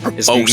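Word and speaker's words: Prevost: So, it's Mount Provost.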